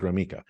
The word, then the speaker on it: Gromicko: you how do you there's no e in it but I pronounce it groma so that could be